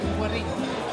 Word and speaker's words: Güerrín: ¿Cómo se pronuncia el restaurante? Guerrín.